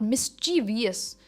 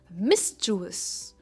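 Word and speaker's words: mischievous: Next शरारती इसकी pronunciation है मिसुवस नॉट मिसवियस इट इज मिसचुअस और मिस पर इसका स्ट्रेस है यानी शरारती।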